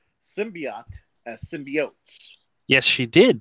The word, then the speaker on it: symbiote: world knows that it's symbiote, not symbiotes. And how do we know it? Because one of the early 90s Spider-Man cartoons, when they introduced Venom, said symbiotes, and they made a whole point of pronouncing it that way.